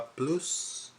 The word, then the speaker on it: plus: S is silent.